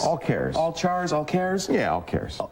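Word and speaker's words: AllChars: in windows today and i think it's pronounced all cares like characters c a c h a r s all cares all chars all cares yeah all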